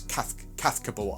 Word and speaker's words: Cazcabel: something like that, but the Z is the like, so it's Cazcabel. I think that's how you say it properly.